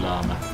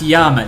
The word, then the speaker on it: llama: Albuquerque oldest living llama no I think I think um says actually llas that might be chatting not it might be should it be pronounced Yama no it absolutely shouldn't because that's like one